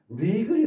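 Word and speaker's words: wriggle: 그다음에 발음이 안 되는 리글이 나왔습니다. 리글 이거는 지렁이다 꿈틀거리다. 왠지 이렇게 꾸는 이렇게 붙트는 뒤는 그런 모습이 나오는 거죠. 예. WR로 돼 있고 W 발음하지 않고 리글 리글 지렁이가 꿈틀되다라는 뜻입니다.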